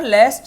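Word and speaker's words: lest: लास्ट वाली class में one shot में आपने देखी होगी। अगर लेस्ट दिया है लेस्ट इसे लीस्ट मत बोलना। उसकी स्पेलिंग अलग होती है।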